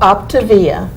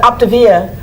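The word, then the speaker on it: Optavia: camera and tell them the name because i've mispronounced it it's called optivia yeah o p t a v i a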